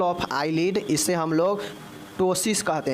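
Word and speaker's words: ptosis: eyelid इसे हम लोग टसिस कहते हैं क्या कहते हैं पी जो है साइलेंट होगा टसिस जो है हम इसको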